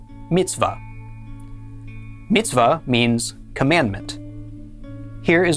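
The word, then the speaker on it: מִצְוָה: be pronounced va and the hey on the end is silent. So our first syllable would be mitzv and the second syllable va al together this is pronounced mitzvah. mitzvah.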